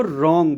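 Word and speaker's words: wrong: वो नहीं किया जाएगा जैसे वर्ड देखिए रंग डब्लू आर ओ एन जी होता है तो हम उसको रंग बोलते हैं राइट बहुत ही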